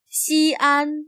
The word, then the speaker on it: Xi'an: 西安 became the capital of China a few centuries before the Common Era, under the first emperor of China. Notice that the X is pronounced as sh.